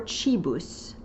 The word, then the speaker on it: cibus: Kibus is the next one, or chibus. in ecclesiastical pronunciation.